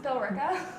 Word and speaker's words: Billerica: actual waiter pronounces filler sia i was taking billerica Billy actually pronounced billerica Oh bill yes I'm closing up oh stop